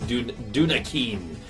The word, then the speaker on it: Duncan: well, like technically it's supposed to be pronounced Dunakeen, but everyone just says Duncan.